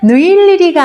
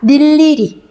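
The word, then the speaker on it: 늴리리: 자음을 첫소리로 가지고 있는 음절의 의는 뭐로 발음한다? 이로 발음한다. 그럼 얘는 느일리리가 아니고 뭐라고 발음한다? 닐리리.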